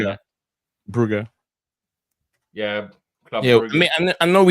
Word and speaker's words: Brugge: I was just informed by someone who's been there before that that's how it's said over there. So I want to try and get in the habit of saying it that way, if that's